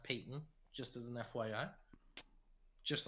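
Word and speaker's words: Payton: one i believe it's it looks like patent but it's pronounced peyton just as an fyi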